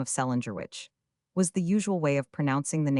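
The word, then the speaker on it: St. Leger: 1858, married an Irishman of the name of Celinger Witch, was the usual way of pronouncing the name of St.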